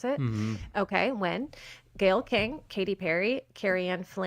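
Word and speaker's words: Nguyen: I don't know how to pronounce Amanda that Wynn. last name. Is that how you pronounce it? Mm-hmm. Okay, Wynn.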